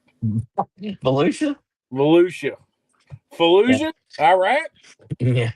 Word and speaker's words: Volusia: How do you pronounce that one with the V? Volusia.